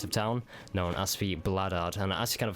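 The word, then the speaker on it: Bladard: The Bloodard?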